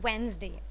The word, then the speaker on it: Wednesday: तो day will remain day, बट ये जो है ना वेडनेस, तो ये जो है ना ये डी साइलेंट हो जाता है यहाँ पे जब, और ये वेनेस भी नहीं होगा, ई डी.